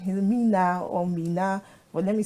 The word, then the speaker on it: Mina: Okay, so it's Mina. You got the Mina part correctly.